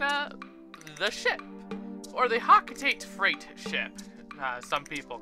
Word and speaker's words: Hocotate: Also, yeah, I know it's supposed to be pronounced Hokotate, but I hate that pronunciation.